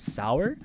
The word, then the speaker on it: Sauer: Oh, also someone said it's Karen Sauer, as in like it's the German spelling of Sawyer, not Sawyer, but like it's spelled, it looks like Sawyer, but it's actually German, so it's actually pronounced as Sauer, and that is fucking hilarious.